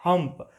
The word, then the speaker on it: Humph: लेकिन कैमल अपनी आदत से मजबूर फिर से बोल देता है हम्प। अब आप एक बात देखिए, इस हम्प की स्पेलिंग है HUMPH, लेकिन जैसे ही कैमल हम्प बोलता है तभी वह कुछ